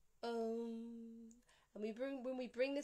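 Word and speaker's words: ॐ: a dot on top, which is an anusvara, which means the sound that comes through the nostril. It's a nasal sound. Om.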